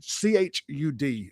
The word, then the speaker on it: Chud: How do you say his name? Chud.